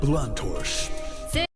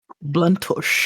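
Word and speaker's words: Blanctorche: Elizabeth Bluntorsch. Bluntorsch. Elizabeth Bluntorsch. It's almost like he's saying blunt torch.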